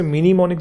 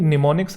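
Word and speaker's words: mnemonics: आती है निमोनिक approach यह minimonics नहीं है कुछ बच्चे से minimumics बोलते हैं निमोनिक्स है यहां से इसकी शुरू होता है एम जो है ये साइलेंट होता है यह होती है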